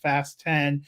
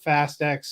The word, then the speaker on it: Fast X: I love that the Press agents for the studio sent us a thing it should be pronounced fast 10 and not fast X switch I saw that